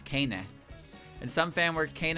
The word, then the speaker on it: Keine: Fans of the English fan base would often mispronounce Kane's name as Kane, probably it does because it doesn't look Japanese-like. The correct pronunciation is Keine.